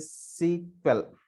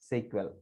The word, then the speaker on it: SQL: a language that is what we can call as a sequel we have to pronounce this as a sql which is used to